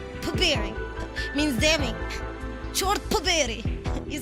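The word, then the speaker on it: чёрт побери: Chort poberi. Poberi means damning. Chort poberi.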